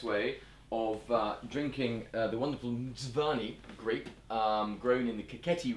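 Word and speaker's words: Mtsvane: So, Kate, perhaps you would demonstrate the best way of drinking the wonderful Mdzwany grape grown in the Kakheti region. So how did you pronounce that? Say it again. Mdzwany.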